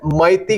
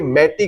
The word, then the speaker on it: Meitei: वहीं दूसरी कम्युनिटी है नॉन ट्राइबल्स की, वो है मैती कह लीजिए, मैटी कह लीजिए, जो स्पेलिंग हम लिखते हैं इंग्लिश में वो है MEITEI, मैती कम्युनिटी।